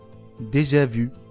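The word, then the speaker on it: déjà vu: デジャブは本来はデジャビュと発音して、すで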